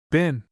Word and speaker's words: bin: hit upon lay in the pronunciation of the word bin, which the English invariably make to rhyme with green, and we Northerners, at least, in accordance, I think, with the custom of Shakespeare's time, universally pronounce bin.